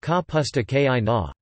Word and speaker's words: kapusta kiszona: seared beetroot, or sauerkraut Polish, kapusta kizona, pronounced ka pusta ki na.